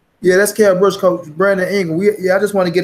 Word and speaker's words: Brandon Ingle: We got the name wrong. Remember, it was Brandon Ingle. Right on Tom Saab. Not Dominic Ingle, Brandon Ingle, the coach.